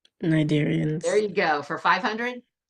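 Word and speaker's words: cnidarians: cadarian 500 it remember remember that c is silent Nigerians there you go for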